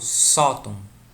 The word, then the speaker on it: sótão: Quando eu falo sótão, sótão, sótão, a gente vê que a penúltima sílaba é a forte.